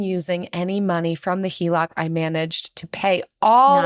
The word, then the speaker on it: HELOC: that finally I recently got approved for a HELOC is that how you pronounce it that is how you pronounce it